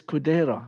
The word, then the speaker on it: Kudera: off the subject but my name and your name paulo it's spell sounds the same but spelled different how do you say your last name oh yeah uh it's kodaira and mine is kudera maybe we are brothers